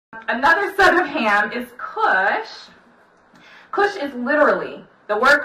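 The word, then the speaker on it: כוש: translating the same exact Hebrew word which is pronounced kush I'm not sure why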